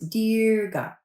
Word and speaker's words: Dirga: do a practice called dega d r g a i in Sanskrit sound like a long e and they're held for two counts so it's dearga not to be confused with Durga which is that fun